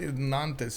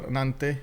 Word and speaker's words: Nantes: really is the following if it's a consonant at the end we don't pronounce it oh oh right right but I always thought Nantes actually sounds better with the full s but sure anante it is now most of the